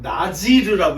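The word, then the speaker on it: נזיר: 그럼 원래 이름은 나지르라고 읽어야 되는 거예요.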